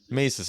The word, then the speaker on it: Mises: Mises.